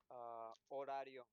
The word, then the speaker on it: horario: Horario. Let me write it on here. The H is silent.